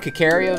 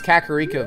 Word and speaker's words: Kakariko: Alright, we gotta get to what I used to call it Kakario Village, but it's Kakariko Village. That's another one I used to mispronounce.